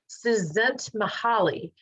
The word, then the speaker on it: Csikszentmihalyi: His name is difficult to pronounce, but I'll give it a whirl. It's Mikhail Csikszentmihalyi.